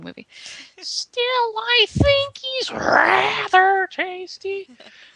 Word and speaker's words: Steele: and steel always steals that's a misnomer because his is spelled s l e not as in I'm going to steal but as in the color so it's more it's more of a it's more of a stil yeah stil that's his